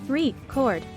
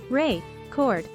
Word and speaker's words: record: a word for example the word record can have two different meanings depending on which syllable is stressed if we stress the second syllable three chord it means to make a recording however if we stress the first syllable Ray chord it refers to an object that plays music now let's talk about